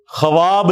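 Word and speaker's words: خواب: ये लफ्ज उर्दू में हम लिखते हैं ना ख्वाब खा व अलिफ और बा खवाब लिखा जाता है लेकिन यह पढ़ने में ख्वाब होता है यानी वाव साइलेंट है यह पढ़ा कैसे जाएगा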